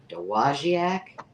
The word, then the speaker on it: Dowagiac: Dowagiac? Dowagiac.